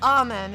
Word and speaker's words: Amen: Oh, it's pronounced Amen. It's named after a dude.